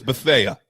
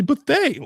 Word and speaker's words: Bethea: He was Bethea forever to me, and then all of a sudden somebody's like, "Oh, it's actually Bethea." Like 4 years in, I'm like, "No, it's Bethea," and I'm sticking with it.